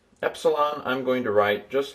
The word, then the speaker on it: epsilon: And we'll pronounce it E like pet.